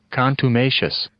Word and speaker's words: contumacious: So our word of the day today is, here we go, Contumacious. Nope, I definitely said that wrong. Let's listen to the pronouncer. Contumacious.